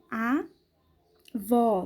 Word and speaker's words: avó: da vogal aberta é a vó tá bem que o acento agudo a vó olha só eu abro mais a boca avó é uma pronúncia mais aberta chama o acento circunflexo ele